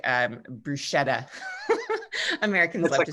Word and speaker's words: bruschetta: And so we went and I ordered bruschetta. I said, I'd like, bruschetta. And the guy said, ma'am, it's pronounced bruschetta.